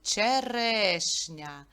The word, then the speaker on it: черешня: склади і постав наголос черешня ділиться на три Склади і наголос падає на другий звук е в другому складі черешня в слові часник скільки